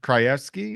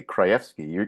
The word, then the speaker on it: Krajewski: You say it correctly, Krajewski. You're saying it the right, Polish way, but that's how I normally say it. But when I introduce myself to people, I say Krajewski because it'll make it easier for them to put that with the way it's spelled, which I've is Krajewski.